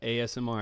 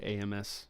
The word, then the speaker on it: ASMR: call it am ASMR I always say that wrong what is it yeah ASMR I said it right for once I usually say amsr or RMS Royal Navy I don't